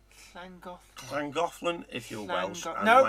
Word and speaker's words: Llangollen: don't you pronounce Llangollen? Llangollen if you're Welsh. and No, it's Llangollen not if you're clan.